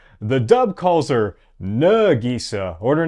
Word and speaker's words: Nagisa: Most of the characters are really well casted, but it has some minor issues in that it mispronounces some things like Nagisa's name. The dub calls her Nagisa, or her name is actually pronounced Nagisa.